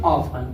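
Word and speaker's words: often: लेकिन टी एन में T silent है इसलिए क्या पढ़ेंगे? ऑफन। का पढ़ेंगे इसको? ऑफन पढ़ेंगे।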